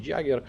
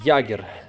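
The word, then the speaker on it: Jäger: кпз-50 в новому камуфляжі Jagger правильно казати Ягер тому що не читається це літера стандартно граю з моїм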